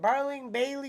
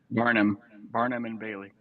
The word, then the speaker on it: Barnum and Bailey: Barling Bailey Circus? Barling Bailey? I can't even say the word. How is it? Barnum and Bailey.